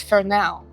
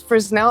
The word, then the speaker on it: Fresnel: that no, it says Fresnel. I'm like, no. I had to pull up Google and screen share with him to show him that it's pronounced with the silent S.